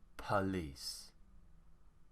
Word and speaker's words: police: just take a quick look we have police police now remember there's not much to learn for